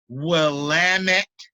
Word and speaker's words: Willamette: dave nursey fought me to pronounce willamette rhymes with dammit okay so guys i'll